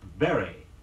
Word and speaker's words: bury: for the fox hunt our next word is Barry B you are why Barry say after me